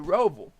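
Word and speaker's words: Roval: you do not know how to say the rovol it's a charlotte by the way guys they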